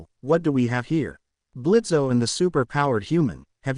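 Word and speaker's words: Blitzø: Blitzo is leaving. Isizuku Pansando. Oh, it's getting bad. Blitz growl. The O is silent.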